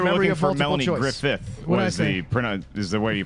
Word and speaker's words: Griffith: Griffith. Is the way you pronounce it.